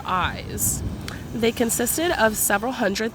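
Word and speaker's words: Ais: fiercest early Florida tribes I believe the original tribe pronunciation is AES or eyes they consisted of several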